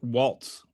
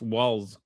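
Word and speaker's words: Walz: Trump It's it's spelled it's not Waltz, it's Walls. W A L Z.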